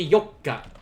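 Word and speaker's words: 四日: it's gonna be yoka there we go and just like before remember you uh there's a double consonant there yoka so uh that just like with mikka you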